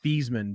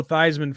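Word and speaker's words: Theismann: well actually his name his real name is pronounced these men believe it or not really yeah he just started calling himself Joe Theisman for his um his uh Heisman run so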